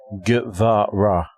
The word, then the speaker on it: Guevara: Guevara. Is that how you pronounce it? Guevara. Guevara? Guevara.